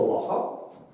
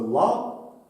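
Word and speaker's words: Lah: Тому часто в нас в якихось перекладах називають числами ла, але там цех воно читається, тому він лах все ж.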